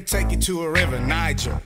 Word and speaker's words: Niger: you to a river Niger soft G like J and pajama below the S hell